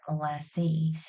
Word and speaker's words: molassey: Older generations will call it Molassey. So they'll drop the ESS and add an EY, which is really interesting.